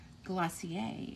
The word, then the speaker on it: Glacier: All right, so Glacier or Glacier, if you want to say it in the French pronunciation.